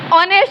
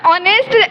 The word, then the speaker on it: honest: For example, honest. The word honest, H is silent, and we use N.